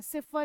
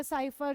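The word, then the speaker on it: cipher: सिफर या साइफर जो भी प्रोनाउंस कर सकते हैं।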